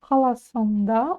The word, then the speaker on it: қаласында: Мен Лондон, мен Лондон, қала, қаласың, қаласында, ударение на последнюю букву А, тұрамын.